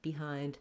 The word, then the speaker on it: behind: So what you really want to focus on is keeping it short. That's the first priority. You can use almost any vowel there, behind, behind, behind. You can't hear too much difference as long as the rhythm is correct.